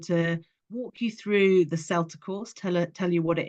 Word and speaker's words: CELTA: So CELTA with a soft C is the Certificate of English Language Teaching to Adults.